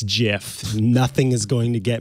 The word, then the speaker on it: GIF: any of you say in the chat it's jif nothing is going to get me to change